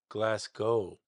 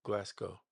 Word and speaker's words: Glasgow: It's probably all this MIDI that they just glass gold. Oh, okay. I've been I was saying it wrong. I'm glad you said that. Glasgow. Glasgow.